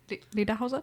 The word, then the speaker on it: Lederhosen: Lederhosen? Okay. We'll get you some lederhosen. The Somewhat proper pronunciation. Lederhosen.